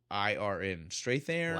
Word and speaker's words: Strathairn: It's Strathairn. Strathairn, Wow.